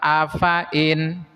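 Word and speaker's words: أفإن: Lafaz afain hati-hati fnya dibaca pendek.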